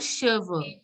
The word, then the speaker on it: cheveux: And Here is called cheveux in French. Here is called cheveux. Cheveux. Cheveux. Cheveux. CH is pronounced as sh. So cheveux.